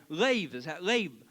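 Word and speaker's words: לב: The next word that's used in the Hebrew is leib. Leib. Or, lave is how it's pronounced.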